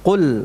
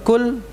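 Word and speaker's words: قل: kita sama tahu ya kul ini dengan huruf qos jangan sampai dibaca dengan kafkul karena maknanya dapat berubah Qul artinya Katakanlah kalau cool artinya Makanlah jadi beda ya Katakanlah dengan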